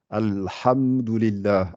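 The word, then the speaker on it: الحمد لله: On dit alhamdou, alors que c'est alhamdou. Alhamdulillah, alhamdulillah. C'est ha. Mais il faut surtout pas faire al-ha.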